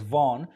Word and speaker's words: Vaughan: So yes, this word is spelled and pronounced as Vaughan.